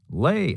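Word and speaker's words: Leigh: Alan oh he said lay Allen he pronounced Lee as lay I realize because of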